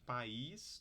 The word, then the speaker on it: país: eira Mega meiga para país do sílabas e pais ditongo aí duas sílabas e ai tá aqui vocês são duas sílabas porque esse tracinho aqui ele marca em palavras com mais de uma sílaba marca a vogal Tônia a sílaba tônica tá então aqui país